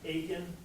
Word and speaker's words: Aiken: And Neela was nice enough to remind me that her last name is Aiken, just like bacon.